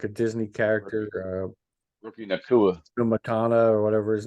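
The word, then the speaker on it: Nacua: So, yeah, hey, Pacuna, right? Nakua.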